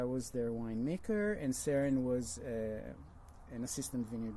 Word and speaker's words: Saron: the person person is sarin like Sharon without the H got it and the